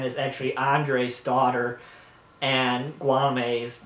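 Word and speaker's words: Guillaume: And they live with their son, Gualame, that's how you pronounce it.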